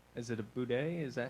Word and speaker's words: bidet: this is kind of supposed to be acting as like is it a bidet? Is that how you Bidet. pronounce it?